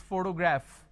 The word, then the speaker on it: photograph: I have the pronunciation of f, but the letter f is missing. For example, if I have the word which is photograph, photography, photographer.